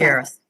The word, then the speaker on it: Tagaris: The T is silent. Lagaris. It's Tagaris.